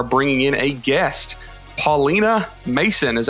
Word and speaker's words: Masson: do we are bringing in a guest Paulina Mason is how you pronounce it yeah yes all right cool it's